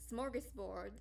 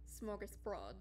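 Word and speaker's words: smörgåsbord: smorgasbord um is okay smorgas means sandwich and broad means bread um so smorgasbord um mind you in movies like charlotte's web it was pronounced smorgasbord um but it's but it's actually pronounced smorgasbroad um i know very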